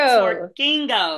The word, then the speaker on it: Twerkingo: Twerk Kingo. The emphasis on the king.